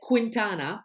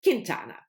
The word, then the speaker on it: Quintana: america i don't know because i said quintana the first time i introduced this book but that's not the right pronunciation it's quintana so thank you very much